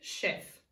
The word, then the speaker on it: chef: making the sound now this is actually a French sound that's why it's made with the CH are not the SH these are our redwoods say chef I went to a